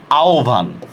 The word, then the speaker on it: আহ্বান: হয়ের সাথে যদি বফলার উচ্চারণ, তখন এটার উচ্চারণটা কি হবে? ও ভ অথবা রস্যৌ ভ দিয়ে হবে, ঠিক আছে? হয়ের সাথে, যেমন আমি বললাম, দেখেন এটা কি আহ্বান? না, এটা হবে আহ্বান, এটা হবে আহ্বান, ঠিক আছে?